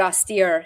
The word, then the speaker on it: austere: So like the word austere, steer is emphasized.